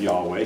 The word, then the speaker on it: Yahweh: is J the yahwist J being the first German pronunciation of Yahweh so there's J uh